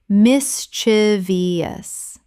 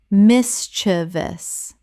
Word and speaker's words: mischievous: mis-chi-vi-ous Correct pronunciation. mis-chi-vous Three syllables only. There is no fourth syllable. This is one of the most widespread mispronunciations in English.